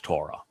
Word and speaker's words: Torah: he calls it his Torah. And the W and Torah is what delivers the O sound. It's also repeated by the Wah in shalom.